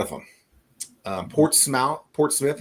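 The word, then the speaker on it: Portsmouth: Um Port Smouth Portouth is not Port Smouth.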